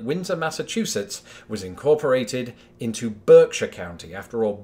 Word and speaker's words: Berkshire: Massachusetts was incorporated into Berkshire County after all Berkshire or indeed Berkshire as its pronounced back home because that's just what we do is the home of